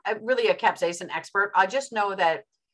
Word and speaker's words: capsaicin: Ray often talked about capsaicin. How do you pronounce it in English?